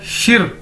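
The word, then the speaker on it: 十: देखने में लग रहा है शी, लेकिन हमने इसको शी नहीं बोलना, इसको बोलना है शिर, आर साथ में। देखिए इसको प्रोनाउंस करने का, बोलने का तरीका है शिर, समझ ले।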